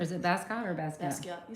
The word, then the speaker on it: Basquiat: Okay, and you know that artist, and I feel embarrassed that I don't know how to pronounce his name. Basquiat? Or is it Basquiat or Basquiat? Basquiat, you said it right.